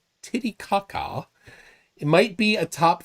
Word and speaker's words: Titicaca: Lake Titicaca. Thank you. Many Karen. If I'm pronouncing it wrong.